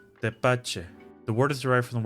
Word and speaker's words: Tepache: Tepache. Tepache.